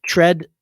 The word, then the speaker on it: Tread: unique name dr tread that is tread like fred with a t dr tread you could